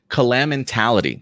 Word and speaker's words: Calamentality: thing smoothly kalama kalem and calamentality calamentality like calamity but a mixture of care mentality so calamitality uh claim